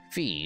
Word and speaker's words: Fi: with my personal designation fee is the name i was given it rhymes with pie i was created for